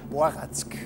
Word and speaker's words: Barack: Die eigentliche Aussprache wäre Boratzk. Also Barack alias Boratzk ist ein ungarischer Marillenschnaps.